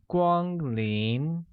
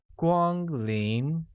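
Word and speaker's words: 光临: in the presence of a guest translates to Gwang lien which is pronounced with a high-level tone on a a mid rising tone on I making it Gwang lien thus welcome guests becomes Kwan in Quang Ninh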